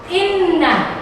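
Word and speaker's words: إنّ: Yang pertama adalah inna fi khalqis samawati wal ardh. Ya. Inna itu adalah gunna. Cara membacanya didengungkan.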